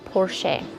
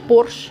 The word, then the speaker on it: Porsche: words the German brand Porsche in simple Russian sounds like Porsche okay so Bosch the soup and Porsche the car they sound pretty much the same don't they uh so